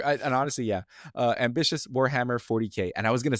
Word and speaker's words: Warhammer 40,000: And is it Warhammer 40,000? Is that just the full name, or is there some trick? I knew this was going to happen. No, you don't say it like that. You say 40K.